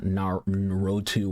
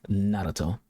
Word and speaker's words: Naruto: So let's take Naruto, for example. Notice how I just said his name. It's not Naruto or Naruto, it's Naruto. You pronounce that R kind of like a little D sound.